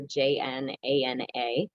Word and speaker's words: Jnana: see the slide there, Jnana. It's pronounced Gyana, and you will see it sometimes spelled that way, spelled phonetically, Gyan, and that's fine.